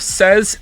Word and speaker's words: says: Indeed, the younger you are, the more likely you are to make says rhyme with lays rather than fez.